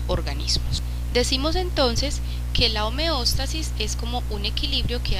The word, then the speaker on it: homeostasis: el proceso de homeóstasis la homeóstasis homeostasis a veces se pronuncia de esa manera eh es el proceso